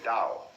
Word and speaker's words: Dao: The way of the Dao that is spelled in English Tao but by Mandarin speakers pronounced approximately Dao.